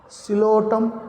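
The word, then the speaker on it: Psilotum: Silotum, P is silent, C.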